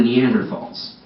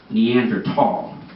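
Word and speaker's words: Neanderthal: this amazing exhibit it's on the neander falls and I'm like Mike hold on one second the words pronounced neander tall and I don't know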